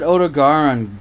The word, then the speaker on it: Odogaron: They said Odogaron disgustingly. That's the first time I've ever actually heard it. They pronounce it Garon.